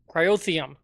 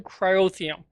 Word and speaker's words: cryotheum: I needed some cium I think it's pronounced cryotheum yeah gelled cryotheum so uh I was